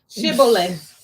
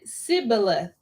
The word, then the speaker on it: Shibboleth: Shibboleth." And he said, "Sibboleth." Yeah, Sibboleth. For he could not frame to pronounce it right.